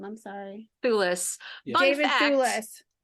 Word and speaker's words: Thewlis: Thewlis.